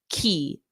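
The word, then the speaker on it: quay: how to pronounce it I pronounced it like I thought it would be and then when someone told me the actual pronunciation I was really confused because it's just pronounced as key key so this one you just can't look at the spelling at all key key so repeat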